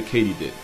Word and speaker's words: katydid: a subfamily of the katydid which is apparently how you pronounce it Not only was I